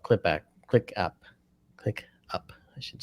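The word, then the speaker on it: ClickUp: uh yeah we use a service called clip click up click up I should say it properly that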